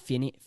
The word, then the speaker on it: Fiennes: Starring Ralph Fiennes.